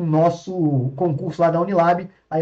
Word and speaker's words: Unilab: Então, eu só voltando aqui, galera, só para arrematar mesmo, vocês não, meu, cupom, galera, não esquece, ó, hashtag Unilab30, tá? Unilab mudo, o B é mudo, tá?